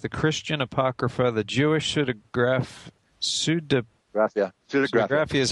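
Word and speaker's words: Pseudepigrapha: Visionary Wisdom Text, the Christian Apocrypha, the Jewish Pseudegraphia is how you say it.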